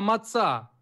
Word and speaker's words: маца: Израиль, не маца, а маца. Последнее ударение. Маца.